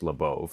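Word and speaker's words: Labov: Beginning in the 1960s, William Labauove, the founding father of modern social linguistics, and yes, it's pronounced Labau, who's one of my academic adviserss, started documenting something happening across a huge swath of the United States.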